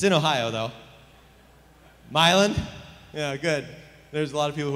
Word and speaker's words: Milan: He was born in Milan, I don't know how to pronounce this. It's in Ohio, though. Milan?